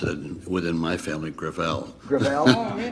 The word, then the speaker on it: Gravel: ed within my family Gravelle it's a French name thank you I want